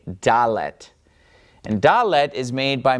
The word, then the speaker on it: dalet: You'd probably expect it to be some sort of a D sound, right? A, B, C, D. Well, sure enough, it is a Dalet.